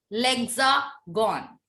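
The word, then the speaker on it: l'Hexagone: Ma'am, can you tell the pronunciation again? It is called lexagon.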